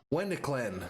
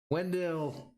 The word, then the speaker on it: Wendelken: Wendeklen. I can't even say his name. Wendelken.